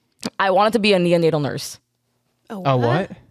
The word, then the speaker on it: neonatal: don't mind slowly how do you say it neonatal nurse neonatal yeah Neil Nadal neonatal nurse yes interesting that was what I wanted